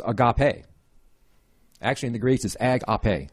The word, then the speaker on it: agape: actually in the graces AG up a is how you pronounce it in the Greek and overall definition of